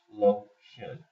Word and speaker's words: lotion: This is a 2-syllable word, but I'm going to take TION, is going to say shun. Now we have a vowel and an open accented syllable, so it's going to say its name.